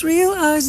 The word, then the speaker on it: Realeyes: It's called Realize. Realize. It's spelled REALEYES. That is how you spell Realize, which is the half